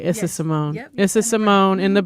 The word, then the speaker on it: Issa Simone: Issa Simone.